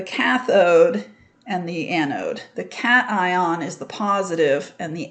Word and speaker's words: cation: transfer that's called the cation i know it doesn't look like that's how you would pronounce it but it is a cat ion it's almost they almost